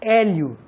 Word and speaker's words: Hélio: i o cinco letras mas quando você pronuncia Hélio quanto estou está aí na sua boca é um que é o l né E aí junta tudo Hélio Então são quatro Coremas quatro problemas que tar